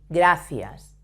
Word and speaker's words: gracias: So, for example, when you say gracias, fi, gracias.